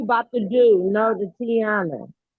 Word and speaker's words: Tioni: How do you pronounce her name? Because I say it wrong every time I know it. It's Tioni. Because it's Tioni. Yeah, that's Tioni.